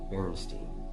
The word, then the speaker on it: Berenstain: one is counterintuitive because the way it's spelled is bear and stain and no one has ever said let's watch the Berenstain Bears no they said Bernstein so why is it not